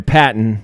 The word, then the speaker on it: Patton: uh and and we're we're sure on the pronunciation here Patton it's not pton it's not pton Patton is